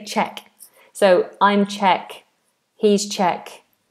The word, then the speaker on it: Czech: This is always an interesting one because it's C um a C and then a zed, but we say ch. Czech Republic. And sometimes we just say ch. Um, sorry. Sometimes we just say check.